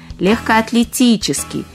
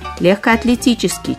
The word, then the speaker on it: легкоатлетический: Ударение падает на «и» – «легкоатлетический». И правильно произносить «легкоатлетический» через «е», а не через «ё».